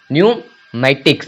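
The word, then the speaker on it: pneumatics: यूज नहीं हुआ है तो पी जो है साइलेंट है पी का कोई भी उच्चारण नहीं हो रहा है न्यू मैटिक्स न्यूमेटिक्स मतलब होता है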